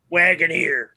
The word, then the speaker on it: Wagoneer: Wagoneer. And I said, do you and how do you spell that? I think phonetically it would be WHAGGONAREE.